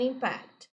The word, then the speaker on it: impact: I pronounced different because we have two words, impact and impact. Okay, impact, the stressed syllable in, impact is the noun, impact is the verb, right?